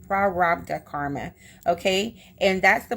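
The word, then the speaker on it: Prarabdha: give me a second it's spelled p r a r a b d ha a so it's prda cool prda Karma okay and that's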